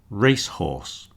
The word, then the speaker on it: racehorse: Racehorse, horse, race, shop, window. Okay, the stress goes on the first one.